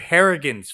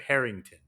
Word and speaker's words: Harrigan: have to correct myself it's Mr harrigan's phone there's no T I said it wrong I kept doing that too it's Mr hargan's phone not Mr Harrington I really liked it